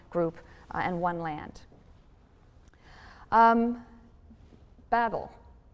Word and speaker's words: Babel: and one land um babel babel pronounced bevell in hebrew is babylon the tower